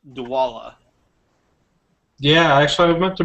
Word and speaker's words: Dwolla: I don't know how useful you'll find it, but you should look up the service called Dwalla.